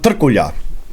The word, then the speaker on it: Trkulja: Dragan Trkulja. Ich spreche es richtig aus. Hier, ne, seht ihr meinen serbischen Pass. Ich weiß, wie das ausgesprochen wird.